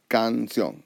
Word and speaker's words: canción: However, when I pronounce the word canción, my voice goes up here.